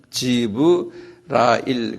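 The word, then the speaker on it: Jibrail: 가브리엘 근데 이분들이 읽을 때는 가브리엘이 아닌 거예요. 내가 오늘 그 지브라일 그래.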